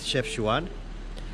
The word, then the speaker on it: Chefchaouen: It's Chefchaouen and We are going today Up there it's